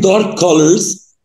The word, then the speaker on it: dark colors: عندي dark colors وما نقولش dark colors, ننطق كه واحدة بس.